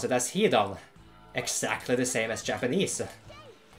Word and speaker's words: Hidan: But the average Norwegian man, he would actually pronounce it as Hidan, exactly the same as Japanese.